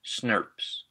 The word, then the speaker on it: snRNP: snRNPs, pronounced SNRPs.